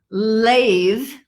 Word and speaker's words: lathe: a blow and th but with a buzz th there are a few for example lathe does anyone know what